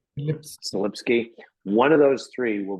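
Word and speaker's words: Selipsky: I can almost guarantee it's going to be Larry Ellison or Thomas Kurian or Adam, how do you pronounce his last name? Slipsky.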